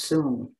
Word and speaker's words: Sun: style which is pronounced it's spelled sun but it's pronounced soon so it's a very